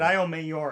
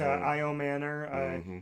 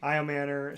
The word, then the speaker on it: Io Manor: I said Io Mayor, I think, a bunch of times. My bad. There's an N. I'm thinking Mayor, but Io Manor. Io Manor.